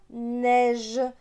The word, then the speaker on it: neige: donc le voyageur surpris par la neige donc après le g il y a eu donc ça se prononce jeu ici on a le